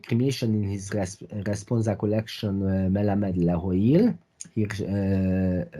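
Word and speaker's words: מלמד להועיל: in his responsa collection Melamed Lahoil. Here, Rabbi Schmelzer employs the modern Israeli pronunciation in transcribing the type of the responsa collection.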